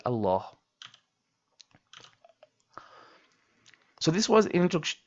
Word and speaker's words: Allah: And we talked about the ruling of the word Allah with a dammah, fatha, and a kasra and we also mentioned not to forget to pronounce the last ha in the word Allah.